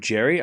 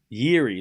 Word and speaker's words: Jiri: Do you pronounce his name Jerry? I think it's Jiri. Jiri Lehecka, right? Like the J is like a Y.